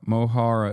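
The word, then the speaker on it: Mo Chara: Mohara is how you pronounce it.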